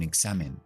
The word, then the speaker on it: exam: Así que ahora es G, Z. Por ejemplo, un examen, pues exam, exam, exam. O un ejemplo, example, example, example.